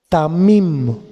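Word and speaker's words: תמים: raíz es hebrea eh raíz hebrea es tamim t de Tito a de adonay m de mamá I de Ignacio y m de mamá tamim acento en la i y quiere decir entero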